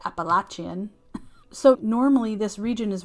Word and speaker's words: Appalachian: So the southern Appalachians, as I was told that that's the right way to say it, Appalachian.